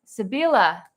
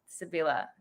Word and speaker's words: Sibila: Oh, by the way, my name is different, but it's pronounced Sibila. Sibila.